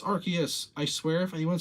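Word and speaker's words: Arceus: if I didn't archus no it's not arus it's archus I swear if anyone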